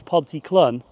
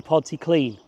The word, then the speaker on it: Pontyclun: I thought it was Pontyclun, but it's actually Pontyclun.